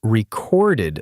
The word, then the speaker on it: recorded: I meant to say we'd recorded the call, stress on the second syllable, and it came out stressed on the first. So, for a second, it sounded like I was talking about a vinyl record.